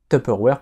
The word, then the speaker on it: Tupperware: ça se prononce sinon top airware puisque c'est une société américaine et comme je disais